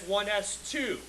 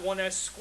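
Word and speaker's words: 1s2: we pronounce it as 1 S2 it's not 1 s squ okay it's not a mathematical operation it's representing a number of electrons even though it doesn't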